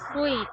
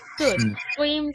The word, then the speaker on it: suit: we have swim suit the pronunciation is not sweet it's suit suit suit and the other one